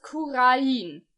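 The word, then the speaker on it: Khura'in: Hier in der Cutscene wurde das Land ja als Kurain bezeichnet, mit Betonung auf das I.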